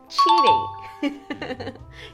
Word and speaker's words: cheating: died because of palabra the next one is a pronunciation mistake one of my father's she's a t-shirt she was telling the kids that they were hey you're but she meant cheating you're cheating on the team cheating cheating okay yes